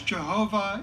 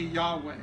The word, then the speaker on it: Yahweh: for substituting Lord is because Jehovah is not the original pronunciation or that it should be Yahweh but the fact is